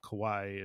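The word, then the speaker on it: Kauai: I was reading because I wasn't sure how to say the name of the island and I looked it up and said Kawaii so I'm like okay I can I can say that because I studied Japanese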